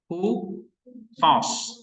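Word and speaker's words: οὗτος: Hutos. Ya, ada rough breathing. Maka bacanya OU ini dibaca Pak U. Jadi bacanya hutos.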